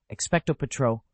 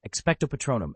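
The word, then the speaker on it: Expecto Patronum: Expeto Petro. No, Patronum. I'm sorry. Expectto Patronum.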